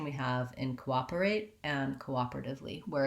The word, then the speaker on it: cooperate: that looks like is we have the co and the american o is long in this word cooperate we still have to do the diphthong o but we don't hold it for that long because it's an unstressed syllable our stressed syllable is the op that's where our length is so we have co